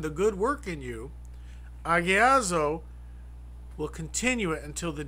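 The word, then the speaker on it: ἁγιάζω: And that is, once again, and we discuss this word agiazo, or hagiazo, however you want to pronounce it, because the H is silent, and it's A-G-I-D-Z-O, agiazo.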